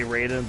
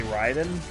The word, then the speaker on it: Raiden: oh love Brayden Ryden I don't know which way to pronounce it I think Americans say Raiden but Japanese people would say Ryden but yeah I I